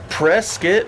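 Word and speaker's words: Prescott: and he has learned how to say the name of this town is Prescuit Valley.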